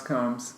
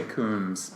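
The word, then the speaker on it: Combs: say Kunis calm okay sit pronounce comes I always want to say Koons because it has the two O's but I mean yeah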